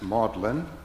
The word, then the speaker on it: Magdalene: Holy Week liturgy like the British elision that renders the word we pronounce Magdalene as maudlin word Maundy is an